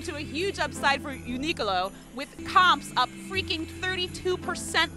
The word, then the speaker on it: Uniqlo: Can you pronounce the name of this store? Uniqlo.